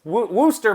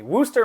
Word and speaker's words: Worcester: Worcester, Massachusetts. God, Diane's going to kill me. Worcester, Massachusetts.